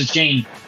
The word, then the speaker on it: Achane: Well, they kept saying it was something different, like a Chaney. On NFL Fantasy Live, they pronounced it Achane.